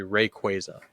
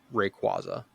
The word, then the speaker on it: Rayquaza: rqua or Rayquaza now it's it is actually Rayquaza the actual way it's supposed to be pronounced it's Rayquaza not Rayquaza that's what it is that's what I used